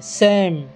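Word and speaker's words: same: পিলাম এই শেষে ই লেখা আছে কিন্তু তার উচ্চারণ হেও নাহি নেম এস এ এম ই সেম এফ আই ভি E five T ইউ ভি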